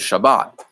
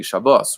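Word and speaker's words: שבת: They also say, well, a Sephardic guy says Shabbat, and an Ashkenazic guy would say Shabbos or Shabbos.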